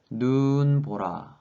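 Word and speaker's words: 눈보라: So actually it's a compound word, snow plus storm, and in this case the first part of syllable can have a long vowel, that is 눈 보라, right?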